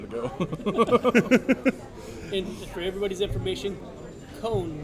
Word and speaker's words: Kohn: And for everybody's information, Kohn, not Con.